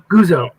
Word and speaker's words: Guzzo: Guzzo, right? Is the right way? Guzzo.